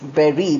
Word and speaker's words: bury: That is berry.